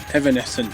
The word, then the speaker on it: Evanescent: Is that how you pronounce it? Evanescent, yeah, I'm pretty sure that is, and oh my god, correctly.